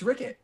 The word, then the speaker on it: Ricket: get his name wrong Rick or rer Ricket it's Ricket Ricket oh my God I'm